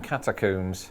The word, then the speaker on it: catacomb: But keen-eared Americans may have heard my pronunciation there and thought, ooh, catacomb? But surely you just pronounce it the same way you do comb. You'd think that'd be the case, but then again, my way is in line with how we say tomb and womb, and also with its original Latin spelling that didn't include the letter O.